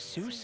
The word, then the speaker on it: Seuss: intended theodore geisel attend intended his name to be pronounced source like voice but then it popularly became known as soos and he went with it that was not in